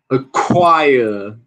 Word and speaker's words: acquire: Acquire. Acquire. Aspirado, né? Acquire. Acquire. Acquire.